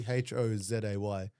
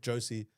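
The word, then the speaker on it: José: do correct people, but it should be Hozay, just so people can actually pronunciate it properly. Because the amount of names I got called, the amount of times I got called Josie or something similar.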